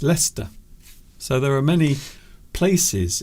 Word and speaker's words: Leicester: But in fact it's Leicester. So there are many places in the UK that are pronounced differently to how they're written.